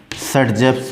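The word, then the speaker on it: Saytzeff: Alkene, तो सर्जेफ rule, ये है SAYTZEF सर्जेफ्स रूल्स। इनका ओरिजिनल नेम था अलेक्जेंडर जेट्सेव, बट प्रोनाउंसिएशन वहाँ पर सर्जेफ के नाम से होता है, इसलिए उसको हम सर्जेफ रूल।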